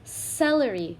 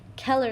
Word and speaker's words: celery: this vegetable down here it's celery we don't think Keller you know because there's an e right after the C so if there's an e I or Y it turns into a soft C sound which sounds like so this is celery over